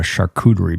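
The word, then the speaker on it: charcuterie: Next time Katie comes, we're going to have a shakuderie board. Wow, you really nailed the pronunciation of that one.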